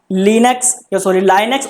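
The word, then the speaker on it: Linux: इसके बाद भाई लास्ट चैप्टर है आपका लाइनक्स ऑपरेटिंग सिस्टम्स। कुछ इसे लिनक्स भी बोलते हैं, कुछ लाइनक्स भी बोलते हैं, जैसे आप प्रोनाउंसिएशन करें दोनों का आप यूज कर सकते हैं।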